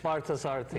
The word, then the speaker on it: Parthasarathy: to you, your teacher, Swami, I'll let you pronounce it. Parthasarthi.